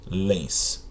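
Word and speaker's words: pólens: Palavra póllens é uma paroxítona terminada em ens, perfeitamente, tá? Tem aqui, ó, pó-lens, penúltima sílaba tônica.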